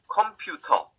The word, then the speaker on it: 컴퓨터: 컴퓨터. Okay? I mean, the number of syllables is the same. 3 syllables, computer. Okay, in English. 컴퓨터, 3 syllables in Korean.